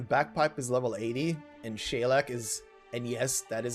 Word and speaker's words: Saileach: at this considering bagpipe is level 80 and shalak is and yes that is apparently how you pronounce her name shaylack got it confirmed by a irish friend because